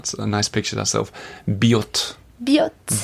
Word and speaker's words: Biot: b iot t but you do pronounce the T you know usually they say you don't pronounce the final letter of French words yeah this is not b not that hard way uh bot and uh there's a